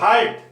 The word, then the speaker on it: heart: अब मैं आगे आपके लिए ले रहा हूं इंपॉर्टेंट हर्ट, HEART, हर्ट।